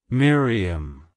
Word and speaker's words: Miriam: beloved it's pronounced as Miriam Miriam Miriam to pronounce it correctly emphasize the first syllable my followed by a